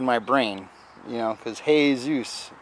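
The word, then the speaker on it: Jesús: You know, because hey Zeus.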